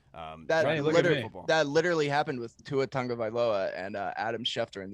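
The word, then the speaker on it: Tagovailoa: one in there but in the samoan heritage that's literally that's tango vailoa that's how they say it it's it's just so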